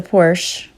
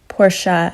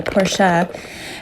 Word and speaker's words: Porsche: know you'd rather have the Porsche porsa I should say as a German teacher shame on me for not pronouncing it the right way porsa but you you could